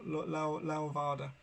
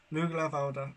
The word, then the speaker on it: Lughnasadh: And I know there's just a correction on my pronunciation. Levada, a little bit more of a ow, Levada. Lughnasadh.